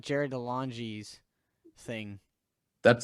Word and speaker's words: DeLonge: Oh wait, Um, that sounds like Jared DeLonge's thing. that's how you pronounce his name.